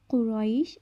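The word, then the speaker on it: قريش: কুরাইশ, এখানে কফ গলার ভেতর থেকে উচ্চারণ করব।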